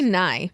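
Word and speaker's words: Nighy: I never know how to pronounce I this. say Nye.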